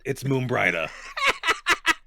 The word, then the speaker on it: Moonbrida: Moonbrida. No, it's Moonbrida. I think I would know how to pronounce my own cousin's name.